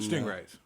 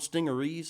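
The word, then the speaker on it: Stingaree: And then Stingrays. No. I've asked, and they say it's called Stingerees.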